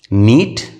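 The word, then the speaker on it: knit: के एन आई टी, यहाँ पे के यहाँ पे साइलेंट होगा। नीट बुनना, सिकोड़ना, स्पेलिंग वही है, के एन आई टी, के एन आई टी।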